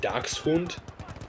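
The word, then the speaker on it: Dachshund: here but the German word daxen is actually pronounced Doc hund and dox is Badger and hund is dog or Hound so actually docen or dox hund actually means Badger Hound in German so I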